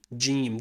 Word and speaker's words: جيم: Now in Fusha, modern standard Arabic, it's pronounced like the letter J, ja, or the letter G in George. So ja, okay? Now in certain accents, in colloquial or slang Arabic, in certain accents, especially Egyptian, Yemeni, and Omani, it's pronounced ga, like a G in the word girl.